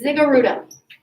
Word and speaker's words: ziggurat: It's ziggurat.